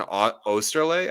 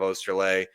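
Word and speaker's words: Oesterle: A little surprised, like Jordan Osterley, I think is how his name is pronounced.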